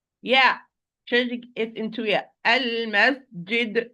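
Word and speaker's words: المسجد: Al-masjid, this is properly. Al-masjid, wrongly. Al-masjid, yid? No, it's jim, not yeah.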